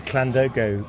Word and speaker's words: Llandogo: Well, it should be Llandoger, because the pub's named after a village in the Wye Valley called Llandoger, so it's called Llandoger because of the stupid Bristol accent.